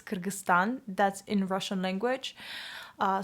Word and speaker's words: Kyrgyzstan: The correct way to pronounce Kyrgyzstan is Kyrgyzstan or also Kyrgyz Respublikasy, which is Kyrgyz Republic. Please, if you're Russian-speaking person, don't say Kirgiziya. That's just not correct in Russian. Now, it's not Kirgiziya, it's Kyrgyzstan.